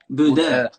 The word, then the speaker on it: Bodø: And do you pronounce it, because it's spelled Bodos, but is it Buda? The Buddha, Buda.